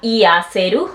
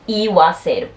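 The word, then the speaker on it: 言わせる: Este no quedaría iaseru, no, eso está malo. Se dice iwaseru.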